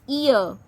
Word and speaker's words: ihr: Ear.